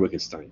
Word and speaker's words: Wittgenstein: Well, Wittgenstein, you pronounce it with a V, these German W's.